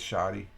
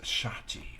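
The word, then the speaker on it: Ncuti: Okay, Oh, okay, it's shoddy. Yeah, it's shoddy. I'm shoddy with my pronunciations. It's pronounced shati. Okay, shati.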